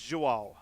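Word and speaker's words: João: How do you pronounce it? It's Joao.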